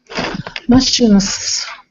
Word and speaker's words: machines: Machines. Machines with a Z Machines. sound. Yes, machines.